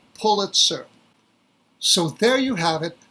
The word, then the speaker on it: Pulitzer: There actually is a correct way to pronounce the name, and the correct way to pronounce the name is Pulitzer.